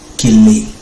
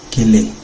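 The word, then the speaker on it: כֶּלֶא: De esta raíz cala viene otra palabra, en hebreo, ciertamente, que se pronuncia quele. Kele.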